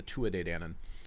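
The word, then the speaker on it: Tuatha Dé Danann: they call the Tua de Dannon some people pronounce it to author but it's the two a day Danon and they're talked about as the children of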